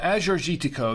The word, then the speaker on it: Agiorgitiko: was before today as your shitiko I'm being honest I yeah yeah uh Azure gitico that's the the grape that's how you pronounce it and um so I'm